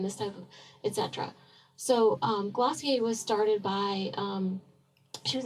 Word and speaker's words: Glossier: Okay, the next one I'm going to talk about is Glossier, and yes, that is how it's pronounced because I asked my millennial friends, and it's Glossier.